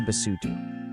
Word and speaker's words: Basotho: Say Basotho.